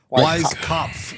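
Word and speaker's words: Weiskopf: it correctly it's Wise Wise cop wise cough there is an F at the end you are absolutely right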